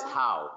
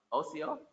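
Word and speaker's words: ᎣᏏᏲ: TV says how, but I know that's not right. How is it? OCO.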